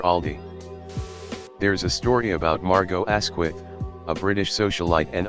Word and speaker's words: Margot: there's a story about margot asquith a british socialite and author meeting jean harlow and correcting harlow's mispronunciation of her first name no no the t is silent as in harlow chelsea